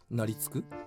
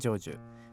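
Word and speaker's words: 成就: « Naritsuku ? » Buzz. La bonne réponse est jōju. Ensuite, comment prononce-t-on le caractère « 立 » et le caractère « 春 » ?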